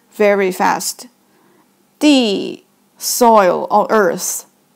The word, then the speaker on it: 地: It pronounced as 地.